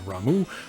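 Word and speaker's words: Ramuh: Also, a note on the pronunciation of Ramu, that is apparently the way it is pronounced,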